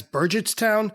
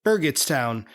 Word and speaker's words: Burgettstown: of the town as Burgett toown while Pete accurately calls it Berget toown with a hard G I've been pronouncing it